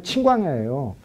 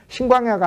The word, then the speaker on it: 친광야: 바로 요호수아 15장에 나오는 친광야예요. 그런데 신광야로 써졌다고. 그래서 남쪽의 경계가 에돔과 신광야까지고라고 돼 있는데 신광야가 아니고 친이라니까 발음이 친광야예요.